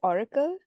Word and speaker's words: orykl: It's pronounced Oracle, but it's spelled that way, so I thought of mentioning the spelling.